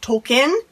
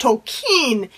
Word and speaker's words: Tolkien: okay did you know that it's not actually pronounced tolkien it's pronounced tolkien and he actually wrote about this in a